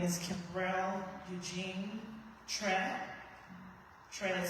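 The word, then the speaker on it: Kyereh: My name is Kimrell Eugene Tre. Trey is spelled K Y E R E H.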